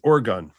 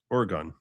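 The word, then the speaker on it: Oregon: It's Orgon. Or gun. Or gun.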